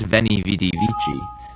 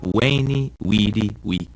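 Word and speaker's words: veni, vidi, vici: a bit of Latin the v in Latin is pronounced like a w sound so Caesar's famous saying isn't ven VD VG but wayy weedi Wei one more quick note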